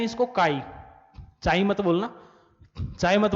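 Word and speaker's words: chi: पढ़ेंगे क्या इसको? प्रोनाउंस क्या करते हैं? काई, ठीक है।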